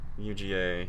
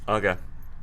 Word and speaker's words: Uga: How to pronounce Uga. UGA. Here's a handful of UGA. No, come on, man. Uga.